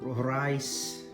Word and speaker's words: Rais: this you know beautiful rice it's pronounced from Denmark super efficient